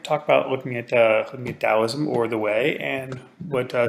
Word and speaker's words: Taoism: gonna start with Taoism it's either spells sometimes with the tea sometimes with with Addie but pronounce that Taoism or the way then we're going to